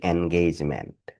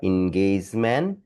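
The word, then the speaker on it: engagement: এখানে একটা শব্দ দেখেন এটা আমাদের খুব পরিচিত শব্দ এটার উচ্চারণটা ছোটবেলায় আমরা পড়ে আসছি এনগেজমেন্ট এখন দেখেন এটা আসলে ইনজমেন্ট আপনার উচ্চারণ উচ্চারণ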